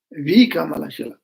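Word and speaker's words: Vikramaśīla: monastery called Vika V sometimes known as Bamash or Vikalasha actually the actual trans pronunciation is Vikalasha Vikalisha is in Bengal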